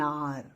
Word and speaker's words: hour: You are driving at 90 miles an hour. H is silent, you remember?